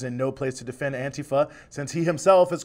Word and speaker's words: antifa: what's its history well antifa that's how it's pronounced antifa is short for anti-fascism and this lineage goes